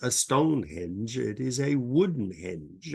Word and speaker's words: Stonehenge: and Denmark well first Stone Henge is the correct pronunciation most people say Stone Hedge because we think of a hedge around a house with trees henge is a prehistoric